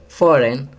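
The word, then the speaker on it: foreign: Fifth, फॉरेन, जी silent है।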